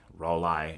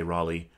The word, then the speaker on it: Rollei: Rollei is the proper pronunciation. We say Rollei.